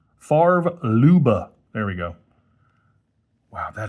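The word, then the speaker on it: Favre-Leuba: There's your Farer Luba I keep having to remind myself to pronounce it correctly. Farv Luba. Farv Luba.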